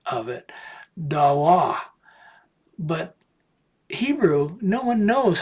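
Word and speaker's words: דָּבָר: day, and so this is a more modern pronunciation of the word. When I took Hebrew, I learned it as davar.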